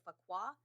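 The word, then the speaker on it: Fuqua: paul and i'm sure i'm saying his last name wrong it's f-u-q-u-a so fakwa danny told paul that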